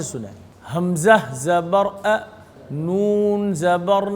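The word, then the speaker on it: أنا: हमजा ज़बर अ नून ज़बर ना अना वकफन अना यानी हिज्जे और रवा में अलिफ को ना अदा करेंगे ना अलिफ का नाम लेंगे।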